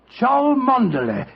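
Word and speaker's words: Cholmondeley: the name Chumley is in no way pronounced the way it is spelled. Joe, I never thought of that. Ch. That name spelled C H O L Ch. M O N man D E D L E Y. Char Manderlay. Manderlay.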